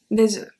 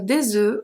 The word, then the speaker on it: œufs: Pronunciation is different. Un œuf, des œufs.